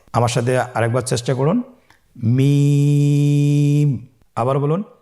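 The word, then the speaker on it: ميم: মিম হরফটি উচ্চারণের ক্ষেত্রে অবশ্যই বারিক হবে, পাতলা হবে এবং তিন আলিফ টেনে উচ্চারণ করতে হবে। আমার সাথে আরেকবার চেষ্টা করুন। মিম আবার বলুন মিম হরফটির উচ্চারণ স্থান দুই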